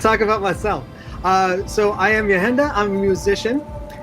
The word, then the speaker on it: Yahenda: So I am Yahenda. I'm a musician. It's spelt Y-A-H-E-N-D-A because, and I say that because